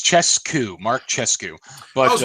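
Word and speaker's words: Czescu: It's Chescu, Mark Chescu. But I was wondering if the audiobook gave a better pronunciation.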